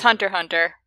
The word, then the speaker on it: Hunter x Hunter: just hunter hunter it's hunter hunter i've always said there is no pronunciation of the x it's just there for the look hunter multiplied by hunter